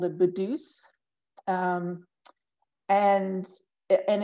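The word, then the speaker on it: putu's: bedus um and and it's spelled like a p with peter like a p from peter p u t u apostrophe s but it it sounds like a hard b sound so it's budus and that means that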